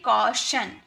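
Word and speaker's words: caution: कॉशन इसे टन नहीं पढ़ेंगे। ये शन है टी आई ओ एन शन।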